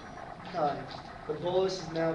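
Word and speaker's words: chyme: acidic environment it changes name to this it's pronounced like a k kind the Bolis is now called kind that food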